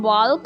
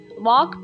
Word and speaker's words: walk: यहाँ पर जो walk में L है वो साइलेंट है, इसे हम walk नहीं पढ़ेंगे, walk पढ़ेंगे, walk slowly।